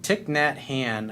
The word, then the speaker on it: Thich Nhat Hanh: It's like Thich Nhat Hanh, I think is how you say it.